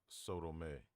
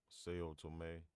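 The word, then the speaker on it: São Tomé: The Sephardic Jews of Sodome. Sao Tome, that's how you say it.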